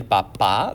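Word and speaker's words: papá: formal than el papa notice the accent mark on papa el papa there's that emphasis on the second a if you say el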